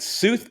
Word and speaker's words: Sooth: more about you or Soothe, or, just... Oh, sure. Oh, I'm going to make one small correction. It's Sooth. Yes. Rhymes with truth.